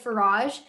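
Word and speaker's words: Faraj: Once again, that's Representative Farage. It's spelled F-A-R-A-J for all of the judges and everyone else inside the chamber.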